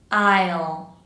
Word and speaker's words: isle: Make sure you're pronouncing both parts of the diff thong. I I isle.